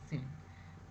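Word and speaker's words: ceiling: जहां भी स्पेलिंग आएगा इसको ऐसे प्रोनाउंस करेंगे सीलिंग और इस तरह का जहां भी आई पहले आएगा इस से पहले उसको वाई के सामने के साथ प्रोनाउंस करेंगे जैसे साइलिंग ये रॉन्ग है साइलिंग नहीं होता है कुछ सेलिंग होता है कैलेंडर और कैलेंडर कैलेंडर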